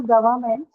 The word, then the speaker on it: government: If I change govern to government, then where will the stress be? So Non-starter. Between. So where is the stress again? On burn itself, right?